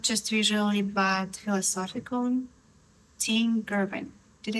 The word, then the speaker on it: Tim Girvin: Tim Girvin.